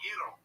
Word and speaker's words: gyro: Why don't you go make me a gyro, Giannis? Okay. Whoa. That's over the line. That's racist. That's racist. I'm half Turkish. I did my DNA. I'm a rape baby. So. And it's pronounced Yiro.